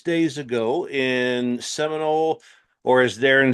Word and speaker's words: Seminole: We always throw the L in there. I mean, it's Seminole.